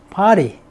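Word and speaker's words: party: 파티 ( 발음 은 " 파리 "). 미국 에서 는 " 파티 " 라고 합니다 . 영국 에서 는 " 파티 " 라고 합니다 . 파티 에 오세요 . 우리 가 흔히 " 파티 " 라고 부르는 것 은 영국식 발음 입니다 . 미국식 발음 은 " 파리 " 입니다 .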